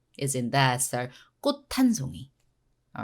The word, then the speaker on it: 꽃: So 꽃 is a t, very strong sound with H. H actually makes the other consonants very strong. Like for example, 꽃 한 송이 become 꽃한 T sound.